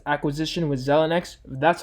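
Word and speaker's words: Xilinx: And that's because, first of all, AMD is on track to closing its acquisition with Zelnex. That's how you pronounce it.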